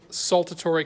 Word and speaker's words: saltatory: and fast this is called saltatory conduction Salta Torre conduction ah so actually it